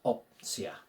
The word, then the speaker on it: opcja: Take off the shon, and we're left with our root, op, oh, like in orbit, so we're good on the pronunciation, and then simply CJA. Simply add CJA to replace the shon, and we get this opcja.